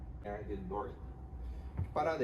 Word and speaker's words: Doherty: Essa é a segunda lei da UX e se pronuncia Dort, mas a escrita é assim: Dó, Ré, Ti. Limiar de Dort.